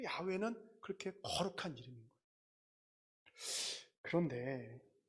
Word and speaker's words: 야훼: 근데 진정한 야훼의 발음은 무엇이냐라고 했을 때 이겁니다. 우리가 이름으로 소리로 야훼 이렇게 하는 것이 아니고 실제로는 어떻게 하는 거냐면 이게 야입니다. 이게 회입니다. 그래서 이 야훼를 발음하는 정확한 발음은 인간이 숨을 내쉬고 들이마시고 할 때 나는 소리가 야훼예요. 이게 야훼예요.